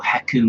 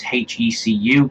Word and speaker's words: HECU: So there's also the enemies, such as the HECU Marines from Black Mesa, or Heku Marines, however you want to pronounce it, but I believe it's HECU because it stands for something. It's an abbreviation of another word.